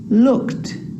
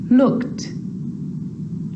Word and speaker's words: looked: But a lot of the time, that E isn't pronounced. Looked, asked, played, baked, wrapped. Now they could be a little bit tricky, so let's do it again. Looked, asked, played, baked, wrapped.